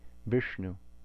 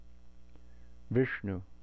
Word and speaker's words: Viṣṇu: And incidentally, if we say Vishnu, this is a cerebral sibilant. So most of us are saying Vishnu incorrectly because we don't have this in English. But you can hear that cerebral quality if you say it correctly, and then the na following the sha is also cerebral.